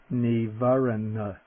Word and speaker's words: nīvaraṇa: the word for hindrance the first n is the dental neivaren can you hear the